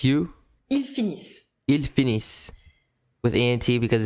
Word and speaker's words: finissent: And ils finissent. Ils finissent. You stop the pronunciation here at the double S, but you write the ENT, just like for the verb of the first group, that you never pronounce.